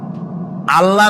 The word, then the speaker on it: আল্লাহ: বলেন তো, আল্লাহ নয়, কিন্তু আল্লাহ হচ্ছে অশুদ্ধ, শুদ্ধ হচ্ছে আল্লাহ। বলার সময় মুখটা গোল হয়ে যাবে।